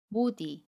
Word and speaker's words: 못 이: 디게 시 모음의 이응 자리로 가서 못 이라고 발음합니다 연임 이에요 모디 모디 두번째 경우도 볼게요 모세 받침 시 효과와